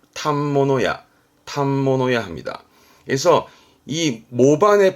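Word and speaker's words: 反物: 샀습니다네 그래서 옷감을 파는 가게를 말하는데 발음이 어렵습니다 발음은 탑모노 그래서이 탐버너 자체가 옷감을 말해서 우리가 바로 포목점 그러나요 걸 탑모노야 탐모노야 합니다 그래서이 모반의 반 무홍과 옷감을 의미했던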